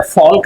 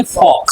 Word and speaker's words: folk: The chief of the fisher folk said, Fisher फॉल्क नहीं बोलेंगे, फॉक। Fox, इसमें एल क्या रहता है बेटा, साइलेंट रहता है ना।